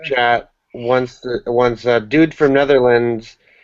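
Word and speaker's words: Nederland: and he spelled Netherlands Netherlands Netherlands yeah whatever native language the Netherland uses the Netherlands is the English pronunciation but if you want the Dutch pron pronunciation it's just Netherland it's one land anyways what should we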